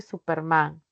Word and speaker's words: Superman: Las agudas, si terminan en consonante N, en S, en vocal, sí permiten tildar, como el caso de Superman. Recae la mayor fuerza de voz en la última sílaba, terminó en N.